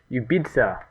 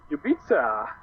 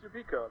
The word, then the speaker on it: UBIICA: By the way, it's pronounced yubita. Uh somebody lectured me about it. Yubita. Yubita. Like a pizza. Yeah. But why with the C? I don't know. He just That's how it's pronounced. I thought it was Jupa because of the DC.